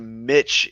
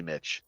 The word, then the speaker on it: Mitch: yet again not surprised mitch is actually how you pronounce it mick mitch it's actually mitch so that's my apologies